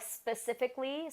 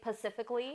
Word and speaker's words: specifically: Kind of like how people say, like specifically, some people say pacifically.